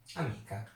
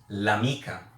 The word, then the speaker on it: l'amica: like this, L apostrophe amica. How would you pronounce this word? Amica? No, you would pronounce l'amica in one word.